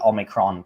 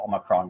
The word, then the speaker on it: Omicron: us know that the Omicron transformers, the variant is not pronounced like the transformer Omicron, but like the actual Greek letter Omicron.